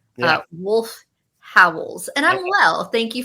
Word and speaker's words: Wolf Howls: It is spelled WOLF space HOWLS. Yeah. Not Wolf House. Wolf Howls.